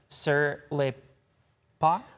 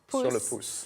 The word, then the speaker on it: Sur Le Pouce: And that's just what you get when you visit, I want to make sure I'm pronouncing this correctly, Sur Le Pouce? Sur Le Pouce. Sur Le Pouce in Perrysburg.